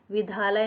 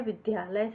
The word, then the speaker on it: विद्यालय: से लिखा जाता है विधालय नहीं होता है विद्यालय होगा वृंदावन इस प्रकार से